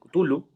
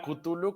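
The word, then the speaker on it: Cthulhu: una pronunciación exacta Bueno a mí una vez me regañaron y me dijeron que la k es muda pero bueno a mí me gusta más có suena kutulu que tulu mamadores literarios mira que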